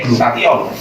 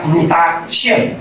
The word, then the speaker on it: glutathione: Glutathione itu bacanya glutathione, bukan glutation, bukan.